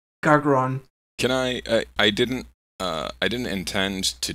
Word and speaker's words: Gargron: That 2 R's. 2 R's. Gargron. Gargon. No. Gargron.